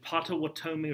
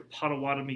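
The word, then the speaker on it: Pottawatomie: gets that revenge at patawatomi or potawatomi creek it's pronounced a couple different ways where he where he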